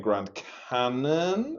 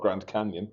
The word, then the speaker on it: Grand Cannon: So this is the Cathayan Grand Cannon, not Grand Canyon, as I pronounced it the other day.